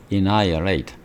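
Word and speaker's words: annihilate: 그다음 발음이 inolate h가 묵음입니다. 그래서 전멸시키다 이거예요. anolate anolate 전멸시키다.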